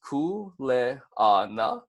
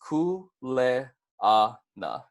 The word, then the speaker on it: kuleana: going over the pronounciation kuleana is pronounced kuu lei ah na and then we can say it together once more that's cool lei ah na all right and jumping